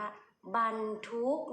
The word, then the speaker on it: บรรทุก: คะ บรรทุก นะ คะ เรา ก็ อ่าน ว่า บรรทุก นะ คะ มี ด้วย